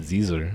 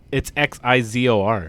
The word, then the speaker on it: Xizor: Oh, I just said Zizor. Nope, the Z doesn't work. Yeah, it's Xizor. Look it up.